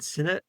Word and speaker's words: Sinnott: Today I am interviewing author Dorian Sinnet.